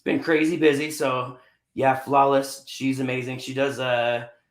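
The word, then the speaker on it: Sphlawless: one i want to say is uh a flawless company it's uh pronounced it's a s p-h-l-a-w-l-e-s-s and uh she's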